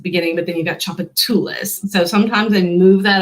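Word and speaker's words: Tchoupitoulas: chocolates in there but choppatilla so the tch just makes the sound sound chocolatulas and so they tend to put that emphasis emphasis kind of in the weird part of the word like a chuffalaya nakadish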